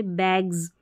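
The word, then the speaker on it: bags: role रहता है जैसे बैग्स बैग्स है तो यहां पर बैग्स ज साउंड आएगा एस के लिए बैग्स ग ग जब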